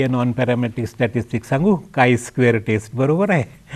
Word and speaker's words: chi: non parametric statistics सांगू काय square taste बरोबर आहे ज्याला काही लोक ची स्क्वेअर वगैरे म्हणतात उच्चार करायचा काय स्पेलिंग मात्र सी एच आय हे आयुष्यात आता विसरायचं नाही नव्हे मी तुम्हाला सांगतो